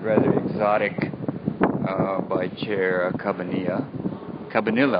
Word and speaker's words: Cabanilla: Cabanilla, I think, is the way we pronounce it, although I think there's a double L.